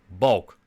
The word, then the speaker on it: Balk: Now let's take a look at Balk. Now, taking a look at Balk, and apologies for my Dutch pronunciation. A Balk is like a construction beam in Dutch, so that's why I pronounce it like this.